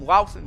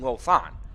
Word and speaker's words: Louthan: I almost called him Louthan there. We did call Ryan Louthan the entire season before. Finally, last week, he told us that the correct pronunciation of his name is Ryan Lothar.